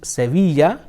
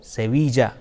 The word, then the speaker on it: Sevilla: Elia is another sound it is pronounced either yeah or J like Syria or Savita si eh oh eh e la la ah it can either be pronounced Sevilla or Sevilla Calle say ah la